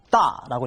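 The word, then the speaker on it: 大: 하나 의사일 때는 따이프라고 읽어서 따이 이렇게 따이라고 읽고요. 진짜 순수하게 크다 할 때는 따라고 읽었습니다. 그래서 의사할 때만큼은 따이후 나머지는 전부 다 따로 읽어 주면 되겠습니다.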